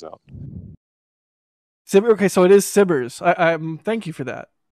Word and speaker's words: SBIRS: Yes, that's how it's actually pronounced, turns out. Okay, so it is SBIRS.